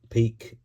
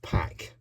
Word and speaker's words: Peque: but listen you know you might pronounce pronounce his name Peak PE uh I was told it's pack um could be wrong I believe it's of